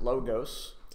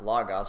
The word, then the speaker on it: logos: is from a Greek word logos some people pronounce it logos but uh as far as I can tell it should be pronounced logos from the studies that I've done and this